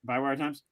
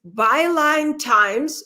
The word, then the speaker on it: Byline Times: uh by wire times did i say it right by wire times okay uh no it's easy just put let me let me tell you it's byline times which is a british newspaper it's very good solid